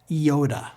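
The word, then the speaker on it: iota: Theta Theta F Yoda this is a vowel it has the simple e sound ioda say it with me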